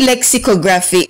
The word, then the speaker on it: lexicography: hi everyone our word of the day is lexicography say the word good job the word lexicography in syllables are l x Lex this eye is